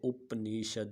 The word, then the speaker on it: उपनिषद: चौथा जो इसका हिस्सा है उसको उपनिषद, बाज़ लोग इसको उपनिषद भी पढ़ते हैं, लेकिन मेरे ख़्याल में इसकी जो दुरुस्त प्रोनाउंसिएशन है वो उपनिषद।